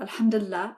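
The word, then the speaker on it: الحمد لله: Let's hear how to say alhamdulillah again.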